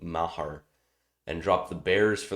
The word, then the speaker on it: Maher: picked up brett maher i would have pronounced it mayer but i heard i think joe buck or someone call it mahar and dropped the bears